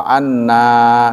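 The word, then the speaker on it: أنّا: Tapi kalau ada tasydidnya panjang, wa anna, sesungguhnya kami artinya.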